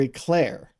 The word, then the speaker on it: éclair: Macaron, poisson, or eclair? I can't answer this question because you're not pronouncing anything correctly.